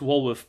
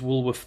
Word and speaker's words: Walworth: It's Walworth, pronounced W-A-L, so there's a slight spelling mistake there. Woolworth. It looks like it's Woolworth the retailer, but it's not.